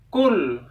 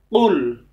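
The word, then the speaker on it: فَلَقِ: jatuh huhuhu Hai full jadi tidak cukup dibaca cool karo dibaca konon mereka itu lafalnya Kav padahal ini Prof makanya yang benar full disini cara melafalkan di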